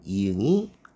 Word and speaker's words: 이응: 현대 한국어 에서 " 앙 " 과 같은 단어가 있을 때 , 초성 " 이웅 " 은 발음 값 이 없습니다 . 소리 가 나지 않습니다 . 그리고 끝 에 있는 " 이웅 " 이 소리 를 내는 부분 입니다 . "ng" 소리 가 납니다 .